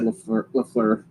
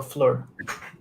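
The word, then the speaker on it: Fleur: to start with sha I got the name wrong I said lefur and Albert since you at the first name so Flur Flur is correct so one point for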